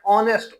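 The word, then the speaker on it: honest: लेकिन अगर उसमें हम देखा जाए ना तो उसकी प्रोनाउंसिएशन में हम पढ़ते हैं ऑनेस्ट ओ से आवाज करते हैं। एच से आवाज नहीं करते।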